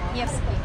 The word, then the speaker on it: Nevsky: ¿Sí es Nevsky la pronunciación? Nevsky.